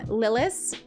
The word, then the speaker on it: Lilith: You say it like it should be said, but I say it like Americans say it. So I pronounce my name Lilith, but please keep calling